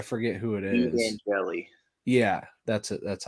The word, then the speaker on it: Angeli: Angeli.